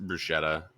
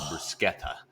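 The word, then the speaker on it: bruschetta: going to get right they have the best brushetta they call it brusketta that is the correct pronunciation yeah so they had the best Bretta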